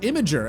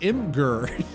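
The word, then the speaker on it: Imgur: Apparently, it's supposed to be pronounced Imager and not imm.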